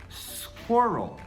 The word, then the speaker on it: squirrel: E ele é muito difícil justamente por causa desse som do RL. Então, é assim que a gente escreve e a gente pronuncia como squirrel.